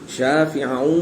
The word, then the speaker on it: شافعا: شافعا ومشفعا، اس میں ہا کی آواز نہیں آنی چاہیے.